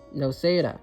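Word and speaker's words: Noceda: Luz Clawthorn Nosida. Noseda, that's how you pronounce it.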